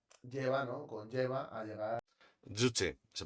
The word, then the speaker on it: Juche: Estoy harto de que la gente pronuncie Juche con J de jamón, la verdad. Ya sé que es difícil pronunciar el coreano. Llevo desde 2017 estudiando coreano. Es fácil pronunciar con la Y, por favor.